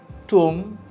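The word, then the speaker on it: tomb: যেমনটা আমি বললাম, ল্যাম্প, বম, ওয়ার্ম, টুম, প্রত্যেকটা জায়গায় আমরা কি দেখি, বি ইজ সাইলেন্ট।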